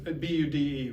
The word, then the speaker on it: Bude: Which, Bude, which is not pronounced Booty.